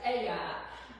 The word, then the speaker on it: Ai: So then the next city they came to was we would pronounce it Ai, but in Hebrew it's I Ai. Hebrew would be I.